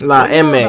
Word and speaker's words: La EME: San Quentin State Prison, where he made his bones and became a fully validated member of La EME, the Mexican Mafia. La EME, okay, chat, that's how you pronounce it.